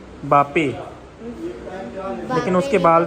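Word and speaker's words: Mbappé: फिर एक वो फ्रांस का था, बापे, लेकिन उसके बाल थे। कुछ तो था। MBAP था यार। ओ हाँ, M साइलेंट होगा, बापे ही होगा नाम, मुझे तो ऐसे ही लगता है।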